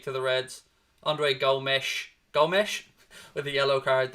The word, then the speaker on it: Gomes: you with us yeah i think he is go mesh as well neil but i'm going to call him gomez i mean i'm i'm not going to go with the full pronunciations buddy because we all know my pronunciations are shocking anyway but you're right i think you are right it is gomesh but i'll call him